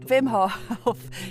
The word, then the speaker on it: Hof: Turns out Wim Hof is Dutch and his name is pronounced Wim.